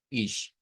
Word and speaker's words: ich: Y recordando que esa sigla es una mezcla entre CH y SH. Ish.